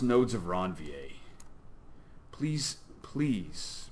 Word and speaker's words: Ranvier: have different problems this is pronounced nodes of ranvier please PLEASE pronounce it nodes of ranvier right okay some people don't and you don't want to be one of those people anybody call it Ranveer thank you for being honest Ranveer ranvier yeah